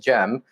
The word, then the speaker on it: Cem: little bit earlier with gem so let's actually start with jim carson what kind of name is jem and how how do you pronounce the c as a j and why does that